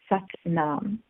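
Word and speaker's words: Sat Nam: most popular mantra is such num SAT and am such num and it rhymes with but mom what does that mean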